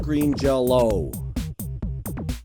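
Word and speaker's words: Green Jellÿ: So, it's pronounced Green Jello.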